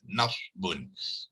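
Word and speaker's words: نصب: Non sod dengan ba, ya. Kalau nak bariskan non pada atas, sod tu disukunkan dan ba tu di tanwin dhammahkan. Itu dia kita sebut harfun nasab. Harfun nasab tu ejaan dia sebenar macam ni lah, nasbun.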